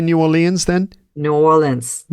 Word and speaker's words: New Orleans: New Orleans Yes Yes actually the more the more it just slides into like one syllable nans like some people just say nans like nullin and and it's okay that's when they know that you're local but the stress there is on the all part isn't it New Orleans